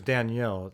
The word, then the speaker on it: Danelle: His name is Danielle, even though it's spelled Danelle.